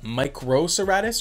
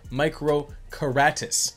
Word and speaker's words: Microceratus: and found out that different sources pronounce this dinosaur's name differently either with a microceratus or microkeratis both pronunciation seem to be accepted so in this episode let's go with the microserratus the soft c pronunciation the name microserratus means